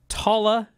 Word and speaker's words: Talla: well now we've got more bloodline we've got talat Tanga coming in that that feels the name